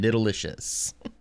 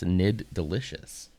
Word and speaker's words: Nid Delicious: Because for the longest time, we were calling them Nidalicious. And it's Nid Delicious.